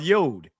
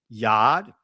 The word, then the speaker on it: yod: Did it pronounce Did it say yod or yad? It said yad. It's See, family, so the original pronunciation is not the ya uh yod. It's the yad of that letter.